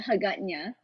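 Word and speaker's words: Hagåtña: i can't pronounce it it's called aganya but they call it hagatna and then all the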